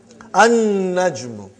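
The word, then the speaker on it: النَّجْمُ: An-najmu. You did not pronounce lam because noon is a shamsi, sun letter.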